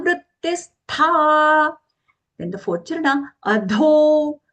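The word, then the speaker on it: अधो: Then the fourth charana, adho, adho, dho, mahaprana long.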